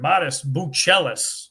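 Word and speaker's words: Matas Buzelis: Modest Buchelis, I was told is the proper pronunciation.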